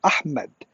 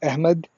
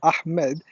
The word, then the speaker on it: Ahmed: the the whole story earlier on the correct pronunciation is ahmed and if you're from pakistan or from the subcontinent from india or bangladesh most commonly people say ahmad and if you're from turkey you probably will